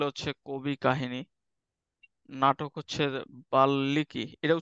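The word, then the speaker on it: বাল্মীকি: বাল্লিকী এটার উচ্চারণটা কি বাল্মিকি নাকি বাল্লিকী কে পারবা উচ্চারণ হচ্ছে হ্যাঁ যখন হচ্ছে এরকম যখন হচ্ছে একটা ওয়ার্ডের সাথে আরেকটা ওয়ার্ড সংযুক্ত থাকবে বিশেষ করে ম তখন হচ্ছে প্রথম ওয়ার্ডটাই দুইবার উচ্চারণ করবা ঠিক আছে যেমন হচ্ছে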